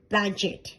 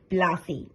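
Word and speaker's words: planchette: বললে, উহু, ভুল হলো, ওর উচ্চারণ হবে প্লাসে।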